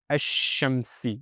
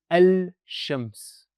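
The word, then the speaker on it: الشمس: Therefore, the lam will be silent and the alif will join into the sheen. And that is the correct pronunciation. Ash-Shamsi. The shadda will come on the sheen and it won't be al-Shams. That is the wrong way of pronouncing this.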